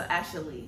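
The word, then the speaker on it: Ashalee: So Ashley. So it's kind of like a fancy way of saying Ashley.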